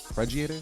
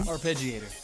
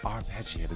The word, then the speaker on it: arpeggiator: say this word wrong preator how do you how do you say it rain arpeggiator arpeggiator there you go here we go I